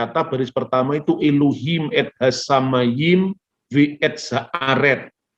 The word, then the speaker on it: Elohim: Orang Samaria dalam teks Samaria sama, dibacanya aluwim. Orang Yahudi membacanya Elohim atau Elohim.